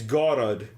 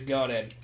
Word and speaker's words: Goddard: It's not that. It's like God. It's Goddard. I was like, I don't hear the difference. He's like God, but he's Goddard.